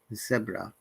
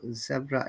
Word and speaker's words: zebra: Then you can see that E, which is we call short sound, about, around, zebra. We get to be careful. Zebra is the British pronunciation. Americans said zebra.